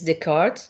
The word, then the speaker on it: Descartes: Now, another one is that came, of course, after is Descartes. Descartes is, as you can see, the S is not pronounced here. It's a French word, a French name.